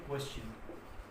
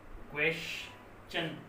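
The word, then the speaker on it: question: आया हो, आए तो ट का उच्चारण च हो जाता है, च हो जाता है। जैसे क्वेश्चन, देखो आपकी क्वेश्चन, यहाँ शन नहीं आ रहा, क्वेश्चन च साउंड आ रहा, ठीक है।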